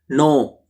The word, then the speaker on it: know: No. K N O W. No. No means K here. No. K is silent.